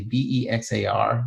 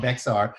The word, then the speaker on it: Bexar: County, which is actually Bexar, which is a Spanish term. Mm-hmm. I've been pronouncing it wrong all these years. Yeah, it's you can tell the people from Chicago when they call it Bexar.